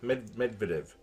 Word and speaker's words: Medvedev: pronounce that? Medvedev.